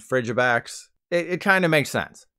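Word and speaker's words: Frigibax: digimon called frigimon so I called the baby ice dragon Freddy backs when it's actually frigid backs frigid fridge backs it kind of makes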